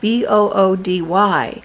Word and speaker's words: Boody: These are bamboo PJs from a company called Booty, and it's spelled Boody.